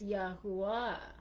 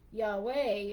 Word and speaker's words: Yahuwah: So, because I was asking them what was the correct pronunciation, and Shaul showed me it's because of Judah, Yahudah would be Yahuwah if you took out the D. So you can't say Yahweh, it'd be Yahudah.